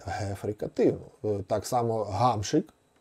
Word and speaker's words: Гамшик: України хокеїст відомий це пишеться мусить писатися і вимовлятися через г гефрикативну так само гамшик гамшик прізвище гамшик або прізвище гавличек І ще дуже